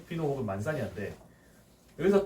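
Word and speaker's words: Manzanilla: 아까 앞에서 말했던 생물학적 숙성이냐 화학적 숙성이냐에 따라서 이 스타일이 구분이 되는데, 자 먼저 만사니아하고 피노, ILL 이거 야라고 읽는다 그랬죠. ILLA 야죠 야. 네, 만사니아라고 했습니다.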